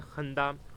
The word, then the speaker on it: خندہ: اینایت۔ اس کے بعد خندہ، خندے کے اوپر بھی زبر اور نون کے زبر جزم، اور دال کے اوپر بھی زبر آپ نے ڈالنی ہے۔ وصف، وصف، واو